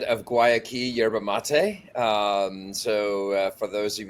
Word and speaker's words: Guayaki: So Ben Mann, CEO, as you said, of Guayaki Yerba Mate. For those of you looking to know how to pronounce it, that is how you pronounce it.